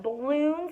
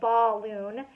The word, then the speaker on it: balloon: are the balloons no when I smell balloon it has the word ball in it but I don't pronounce that ball loon I'd pronounce it but uh uh